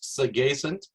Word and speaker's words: Sagacent: little bit about me the company is actually pronounced segacen it comes from the word sagacious which means